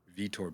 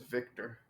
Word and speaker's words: Vitor: you say his name he's a vitor vitor belfor oh i thought it was victor no there's no c right but you know so